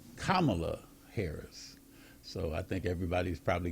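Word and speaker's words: Kamala Harris: candidate and that is kamla Harris so you know just to kind of give people a little education in terms of say on how to say her name but it's kamla haris so I think everybody's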